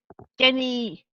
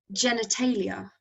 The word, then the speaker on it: genitalia: Mispronouncing with a hard G. Genny... Melchior corrects his pronunciation. Genitalia.